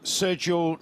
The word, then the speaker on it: Sergio: Sergio that's how you say it, by the way. It's Sergio. Sergio. Yeah, Sergio.